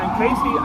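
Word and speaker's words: Kayce: fastest rising Maine Casey is spelled k-a-y-c-e oh I get it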